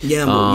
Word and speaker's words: Yamble: Yamble. Yamble is spelled W-A-M-B-L-E. No, not W-Y-A-M-B-L-E. This man is brewed. Y-A-M-B-L-E, like gamble, but with a Y.